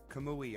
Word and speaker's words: Kamui: Kamui? Kamui. I was saying it wrong, John, and I sincerely apologize.